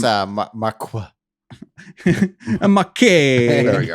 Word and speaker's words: Housemarque: It sounds like spelled like Marquee. Maybe I haven't misspelled because I don't have a good source here. I think it's Marqua.